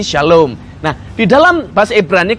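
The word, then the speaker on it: שלום: terdiri dari tiga huruf jadi Shalom itu berarti sebenarnya tingkat ia dalam bahasa Ibrani tidak ada huruf hidup tidak ada vokal hanya konsonan jadi hanya since rame dan memang jadi kita enggak tahu sebagai Bacanya apa tapi karena dan ikut jadi berbunyi jadi Shalom nah di dalam bahasa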